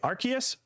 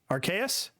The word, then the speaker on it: Arceus: too with pokemon how do you say it arceus archaias hmm archaic well i say arceus but in the anime do not say that